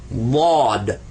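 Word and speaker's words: ضاد: But it's Bod. Bod. Bod. You're doing some stuff in the back of your throat, moving your mouth a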